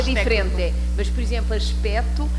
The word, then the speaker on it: aspecto: Mas, por exemplo, aspecto, aqui não se pronuncia o C etimológico e antes do acordo ortográfico escrevíamos o C.